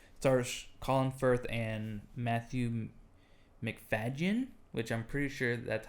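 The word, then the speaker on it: Macfadyen: colin firth and matthew mcfadyen which i'm pretty sure that's how you pronounce it everyone says matthew mcfadyen but right but the d is in front of the y yeah mcfadgen yeah and uh if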